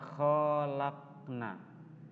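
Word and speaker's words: خلقنا: Tulisannya adalah khalaqna. Tapi yang benar juga harus sama, memantul. Ya, karena huruf qalqalah, dal, qaf itu huruf qalqalah.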